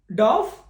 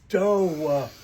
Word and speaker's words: dough: dove, No, it's dough.